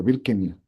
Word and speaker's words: Birkenau: Y él fue enviado ¿cómo se pronuncia? Birkenau.